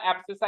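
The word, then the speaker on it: abscissa: अब अगर आपको याद नहीं होता, वैसे तो देखो उसका प्रोनाउंसिएशन एब्सिसा ही है, हमेशा कहीं भी जाके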